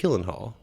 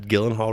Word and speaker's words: Gyllenhaal: gonna just take that Gyllenhaal right back place it with the soft G like Julie Hall I think it's fun